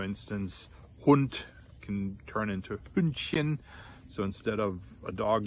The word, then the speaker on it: Hündchen: But anything that ends with Chen, like Kätzchen, Hündchen, Gläschen, Mädchen, is pronounced with a soft CH, the sh, chen.